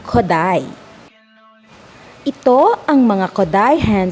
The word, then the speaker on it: Kodály: Isang paalala, ang Kodály, kapag ito ay ipopronounce, yan ay hindi Kodaly, yan ay Kodály.